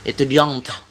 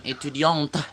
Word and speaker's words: étudiante: Oh, étudiante. Tapi jangan étudiante, jangan ya. Ada tapi jangan ada tag-nya, masih ada tag-nya, tapi jangan terlalu étudiante, jangan. Étudiante.